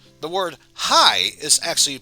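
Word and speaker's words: はい: to pronounce it properly this word sounds like hi or hi however remember how e sounds like e the word hai is actually pronounced but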